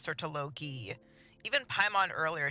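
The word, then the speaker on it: Surtalogi: And now both Skirk and this guy have said it like that, and that's not how you pronounce that name. It's Sertologi. Even Paimon earlier said Sertologi.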